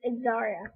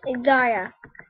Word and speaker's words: Xaria: so it turns out xaria is actually pronounced Zaria her name is pronounced zarya people who thought it wasn't Zaria it's zarya you got that people